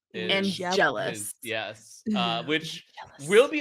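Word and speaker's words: Angelus: Angels not just Angel Kevin how do you pronounce this this name it's angelis angelous yes uh which will be an important name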